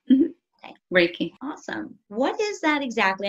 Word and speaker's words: Reiki: healing you practice raiki is that how it's pronounced yeah raiki awesome what is that exactly I hear a